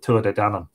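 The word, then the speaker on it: Tuatha Dé Danann: But we usually pronounce it Tua de Danann.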